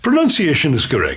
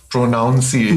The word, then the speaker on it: pronunciation: of saying this word pronunciation is correct and not pronounceable not pronunciation yeah pronunciation um and it's actually linked to enunciation right which is to speak clearly and it's not linked to pronoun which is where the